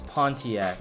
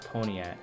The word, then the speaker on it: Pontiac: let me see um oh it's pontiac not pony at oh yeah pontiac oh